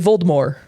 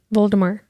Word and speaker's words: Voldemort: There's no T at the end. You're supposed to say Voldemort. Voldemort.